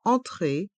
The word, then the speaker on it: entrée: supermarché l'entrée du supermarché le E du mot entrée est mué l'entrée l'entrée du supermarché